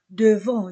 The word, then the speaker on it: devant: e a u o devant je ne prononce pas le T le professeur est dans